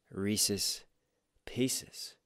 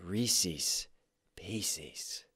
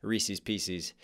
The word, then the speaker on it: Reese's Pieces: Is it Reese's Pieces or is it Reese's Pieces? Ooh. See, he bent it to make it rhyme with feces, but I think as a kid I definitely said Reese's Pieces, which was incredibly incorrect because Reese, it's all about Reese.